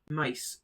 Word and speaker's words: maïs: It is used when two vowels are just next to each other and are pronounced separately. Let's see some examples. Maïs, which means sweet corn.